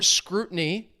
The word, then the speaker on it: scrutiny: That T is more of a glottal stop. You could say scrutinize or scrutiny. That's perfectly fine. But yeah, you hear me when I say scrutinize or scrutiny, you hear that glottal stop instead.